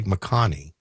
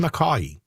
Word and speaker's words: McCaughey: Well, there's no N, so I don't think you say McConney. Oh. Just McCaughey.